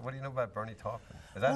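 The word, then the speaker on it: Bernie Taupin: get on what what do you know about Bernie toen is that how you pronounce his name Bernie tolpin okay he he wrote a song um sweet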